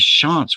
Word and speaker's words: Shantz: And he says, yeah, his real name is Shantz.